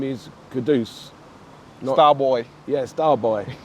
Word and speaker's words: Kudus: Yeah, I definitely think they should know that his name is Kudus. Starboy. Yeah, Starboy, not Kudus or anything like that, because we're East End